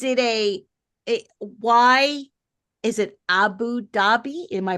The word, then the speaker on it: Abu Dhabi: So is it a why is it Abu Dhabi? Am I pronouncing that correctly? Abu Dhabi.